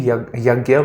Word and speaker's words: yajna: So here you can see it's actually yagya, but because we speak in English, it becomes yajna. Okay, so J is actually pronounced at gear, but if you say this, you will be wrong.